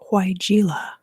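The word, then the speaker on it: Weigela: into the reading so i know how to pronounce this flower name now it is huayjila and it's all about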